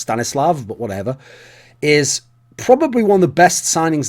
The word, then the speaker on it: Stanislav: stanislav which interesting that everyone calls him Stannis because actually that name if you go to easn Europe is pronounced stanislav but whatever is probably